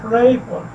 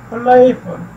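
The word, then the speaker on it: playful: प्ले और full, 2 syllables. प्ले जो है वो उस पे स्ट्रेस किया जाता है, प्लेफुल। ठीक है जी, और प्रोनाउंसिएशन बनती है प्लेफुल।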